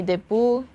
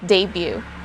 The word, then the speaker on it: debut: not in english again in tagalog we say debu but in english we say debut bts made their debut in 2013.